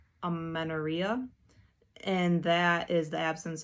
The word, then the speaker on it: amenorrhea: women, they'll develop something, I believe it is pronounced amenorrhea, and that is the absence of a normal period.